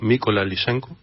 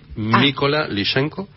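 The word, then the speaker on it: Mykola Lysenko: Tenemos una obertura de un compositor ucraniano, Mykola Lyshenko. Así es, that's the pronunciation. Which one? Mykola Lyshenko.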